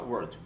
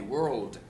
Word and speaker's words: world: Então você vai falar a palavra world. Não adianta falar word. Não, você tem que pronunciar o L, world.